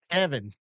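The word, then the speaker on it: Deaven: Spelled like heaven but with a D. Yes, sir. And I said that to you because it's spelled D E A V E N. And I was making sure to me it's Devon. And he said just like heaven. Runs with heaven.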